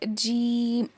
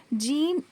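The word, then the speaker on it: جيم: जो है वह है जीम ठीक है जीम की प्रोनाउंस देखिए कैसा है जीम जुबान के बीच के हिस्से को ऊपर के तालू में लगाने से जीम अदा होता है जुबान का जो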